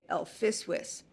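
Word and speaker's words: LFSWS: and I pronounce it I pronounce the L separately and I say El fwis and that makes it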